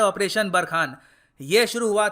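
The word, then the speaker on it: Barkhane: जी हाँ, इसको प्रोनाउंस करने का तरीका है ऑपरेशन बरखान।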